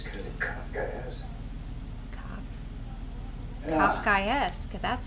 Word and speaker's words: Kafkaesque: Kafkaesque.